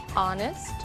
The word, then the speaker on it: honest: O som do H. Pronunciado desde a garganta, como em hotel, e mudo em 3 casos: our, honest, honor.